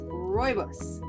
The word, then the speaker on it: Rooibos: So my second tea for the day is rooibos. Can you roll your R's, Dia? Rooibos.